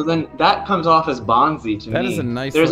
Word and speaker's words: Bonzi: b-o-n-z i and uh bonzi wells and he didn't go by bonsai because it's not how you pronounce b-o-n-z-i all right then mystery